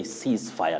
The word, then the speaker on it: ceasefire: ceasefire yes you say ceasefire now that s takes the voiceless or what we call the unvoiced sound an unvoiced or voiceless sound use of is that